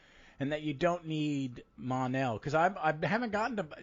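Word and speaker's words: M'onel: just yeah this is it's an apostrophe oh it's possible yeah you it still sounds monel but you it just is spelled a little bit different yeah i like this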